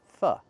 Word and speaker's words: pho: This food is not called pho. It's called "fuh". We use the short "uh" sound like cup and up, not the long "o" like no and go.